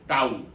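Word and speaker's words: tau: So torque toao this one is pronounced as toao that is equal to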